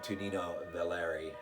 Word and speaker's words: Tonino Valerii: well done uh giallo uh from one uh to nino valeri that's how you say his name from 1972.